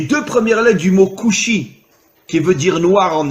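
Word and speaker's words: כושי: En hébreu, le mot noir se dit kushi.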